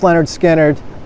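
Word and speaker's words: Lynyrd Skynyrd: their albums back in the day on cassette pronounced Leonard skinnard and H man I haven't heard this in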